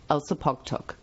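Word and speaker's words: Elsipogtog: o g t o g is in fact pronounced like this elsa pog talk one listener tells us that this literally translates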